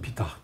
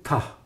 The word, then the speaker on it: Ptah: Bak, onu Ptah diye okunur. Biz beceremiyoruz onu. Çünkü biz Türkçe'de heceli seslendirme yaptığımız için Pitah diyoruz. Halbuki Ptah.